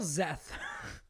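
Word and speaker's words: Szeth: to ask you spell zeth z-e-a-t-h it is spelled s-z-e-t-h wait say that again s z e t h okay that's not that bad yeah it's not that bad the S is silent uh uh he uh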